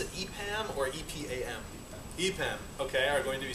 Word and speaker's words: EPAM: And after that, two fine fellows from, do you pronounce it EPAM or EPAM? EPAM, okay, are going to be speaking about some